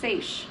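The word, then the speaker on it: seiche: and forth the phenomenon is called a c pronounced seish oops sorry spoken i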